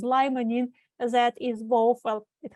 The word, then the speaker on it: limonene: and oranges there is a substance called lemon in also pronounces limonene that is both well